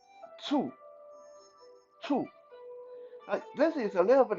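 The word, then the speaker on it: 醋: don't really know vinegar in mandarin is called two two this is a little bit of a awkward thing for non-mandarin speaker to pronounce so think of it as p s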